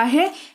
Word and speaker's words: हैं: मतलब होता है है देखिए है के ऊपर ना ये बिंदु छोटी सी प्यारी सी लगी हुई है इसी के वजह से इसमें न का हल्का सा उच्चारण आता है हैं ऐसे उच्चारण आता